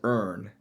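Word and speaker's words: erne: Um, historically the native English term for an eagle was ern like e it's pronounced like the word e a r n.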